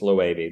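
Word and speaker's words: Loewe: their bags it's felt it looks like it's spelled low but it's low 80 they're Spanish they like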